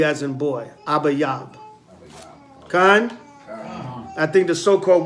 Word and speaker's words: Abib: the new year abib abba yab all right a b i could spell it a b a y a b abba yab in an ancient paleo hebrew tongue abib abba yab a